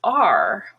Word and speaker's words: are: to say it but if it's unstressed and sort of in the middle between other words it's er the roads are fine